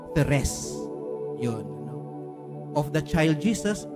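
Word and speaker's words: Thérèse: nung ako discs carmelite Yung french pronunciation sa halip na Teres ni-retain Yung french na thess yun of the child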